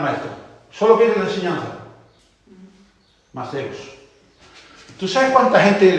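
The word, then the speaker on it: μαθητής: La primera palabra es la palabra Maceos, que se escribe Mateos, TH. Maceos.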